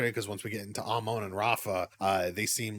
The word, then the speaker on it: Amon: It is Amon. They say it in the game, they say it everywhere else. I'm just dumb. Thank you. And don't get me started, because once we get into Amon and Rafa, they seem